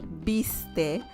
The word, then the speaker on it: viste: I mean, I would pronounce it viste, but remember that sometimes in Argentina they don't pronounce, or they sigh when they say the first S, right?